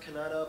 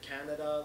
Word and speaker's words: Kannada: I was told it's pronounced Kannada, but some people have said Canada, like Kerala, capital Tiruvananthapuram.